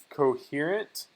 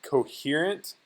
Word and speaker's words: coherent: for the word coherent coherent so again uh coherent notice that you have to pronounce the h which is you don't